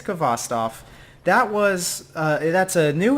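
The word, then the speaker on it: Khvostov: the kvass stuff that everyone has a different way to pronounce this gun I looked it up on google I think it's kvass Tov that was that's a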